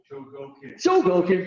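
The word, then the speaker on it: Chogokin: They had all the Soul of Shokoken. Is that proper pronunciation? Shogoken, what? Shogoken.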